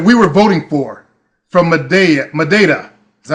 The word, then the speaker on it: Madeira: And there was a fellow named Philippe that we were voting for from Madeira. Is that how you say it? Madeira. That's pronounced Madeira.